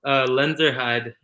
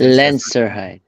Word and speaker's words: Lenzerheide: It's called Lenzerheide, and it's Lenzerheide.